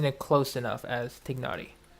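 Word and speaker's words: Tighnari: it close enough as tignari people say tainari because it's one h away from the first part being like thigh or tie but yeah i think naughty is proper pronunciation okay all right primo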